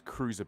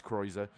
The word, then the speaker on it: Kreuzer: I've been mispronouncing him as Cruiser, but it is Lucas Kreuzer, who's been starting this season in the Toyota.